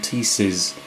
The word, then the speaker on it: Teeces: These are, I always thought they were pronounced teaks, but apparently everyone, certainly everyone in America, pronounces them Teeces. T-E-E-C-E-S, I think it is.